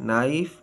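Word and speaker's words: knife: our honest honour air और silent के के इज not pronounce one follow by एन एट the beginning of the word अ किसी अल्फाज के शुरू में के के बाद एन आए तो के आवाज नहीं देता जैसे नाइफ नी नो नॉक नॉलेज साइलेंट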